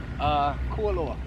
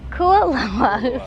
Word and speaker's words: Kualoa: Is it pronounced Kualoa Ranch? Kualoa. Kualoa.